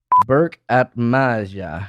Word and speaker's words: Berk Atmaca: Berk Atmaca.